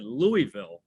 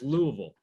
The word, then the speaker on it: Louisville: Last weekend I actually said Louisville, the Chicago guy. Oh, that'll get you. I got a producer in my ear saying, Max, never say that again. Never say that again. It's Louisville.